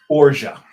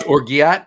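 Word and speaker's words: orgeat: It's called Ora, and that's how that's pronounced. O R G E A T because it's a French word. It's not orat.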